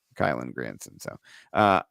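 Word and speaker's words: Kylen: Kylan Granson.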